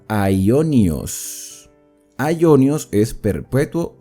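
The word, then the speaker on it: αἰώνιος: Y esta palabra eterno o sempiterno se pronuncia aionios.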